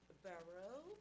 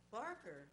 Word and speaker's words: Barker: The next speaker is Barrow. Please correct me if I'm mispronouncing your last name. Barker. Oh, boy, I was way off.